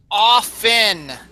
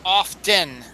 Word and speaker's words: often: of Dodge it is often not often often the t is silent often not often I'm